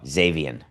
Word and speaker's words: Xavier: Did I not say Xavier? I thought I did. I may have pronounced the X as an X. Oh, Xavier.